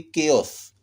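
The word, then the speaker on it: chaos: लेकिन यहाँ देखिए केओस, हलचल मच गया, केओस। CH से यहाँ के का उच्चारण हो रहा है।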